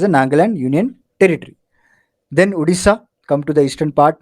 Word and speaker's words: Odisha: Okay, so instead of Ra, you should pronounce Da. Odisha in 1st November 2011.